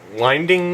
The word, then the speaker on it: Winding: anyways moving on next nicholas winding winding is how you say nicholas winding refin is